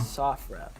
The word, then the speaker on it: SOFREP: Sofrep. I was saying And Sofrep. Yeah, it's all right. So SOF is Special Operations Forces, Okay. and then REP is short for report.